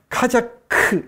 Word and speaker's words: 카자크: 용어를 좀 정리할 필요가 있는데, 카자크, 여기 카자흐라고 번역되어 있죠. 근데 카자크라고 읽어야 됩니다. 이게 K예요, K.